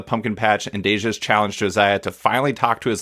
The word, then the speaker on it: Josiah: It's Josiah, right? That's how you pronounce it?